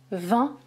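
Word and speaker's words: vingt: ici 20 le nombre je ne prononce pas le G et je ne prononce pas le T 20 20 même prononciation exactement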